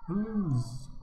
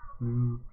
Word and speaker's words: bleus: Blues. Oh, blues. It's not. Yes, at the end of French words isn't usually pronounced.